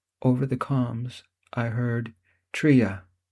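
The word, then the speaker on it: Τρία: Over the comms, I heard: “Tría. Dýo. Éna.” (pronounced TREE ah, THEE oh, EH nah) Then, through the monitor, we heard a tiny explosion—immediately followed by a much larger one.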